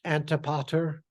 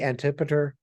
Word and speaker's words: Antipater: Now, as Will Scholl likes his name pronounced, Antipater, I say Antipater the Idumean.